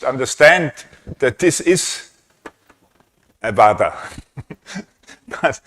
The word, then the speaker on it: vada: And um I think the Indian name of the object is a vada. Is that correct? Vada. How how do you spell it?